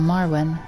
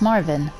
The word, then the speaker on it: Marvin: And then we have Marvin, or Marwin. No, it's Marvin.